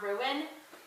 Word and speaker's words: ruin: the world I say ruin not ruin and there's a thing in um I guess it's 21 Guns by greenary um where you have to pronounce it with two syllables but uh this this